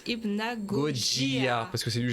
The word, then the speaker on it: Hypnagogia: Mon nom Goji est dérivé du nom du jeu Hypnagogia et tu le prononces Hypnagogia.